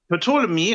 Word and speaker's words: Ptolemy: Stefan, Ptolemy, oder wie spricht man das aus? Ptolemy, also quasi zu Deutsch Ptolemäus, Das ist, wenn ich mich recht erinnere, ein griechischer Philosoph, Ptolemäus gewesen.